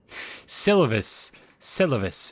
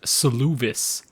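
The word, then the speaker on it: Seluvis: Okay, I was so far off with the pronunciation of his name. Selavis, and not Soluvis.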